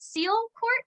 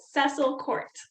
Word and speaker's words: Cecil Court: and incidentally stumbled onto is it seal court how do you pronounce that they say it cecil court oh cecil okay yeah um a cobbled